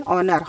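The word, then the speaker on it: honour: यहाँ एक चीज़ ध्यान देना है कि ये वर्ड एच से चालू होता है और एच यहाँ पर साइलेंट है, तो हम इसे ओ से पढ़ेंगे, ऑनर। हॉनर नहीं पढ़ेंगे, इसे पढ़ेंगे ऑनर।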